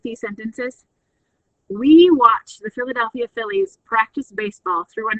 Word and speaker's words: Philadelphia: We watched the Philadelphia Phillies practice baseball through a knot hole in the fence. So notice that Philadelphia has 2 PHs that say the sound of Phillies, and then we have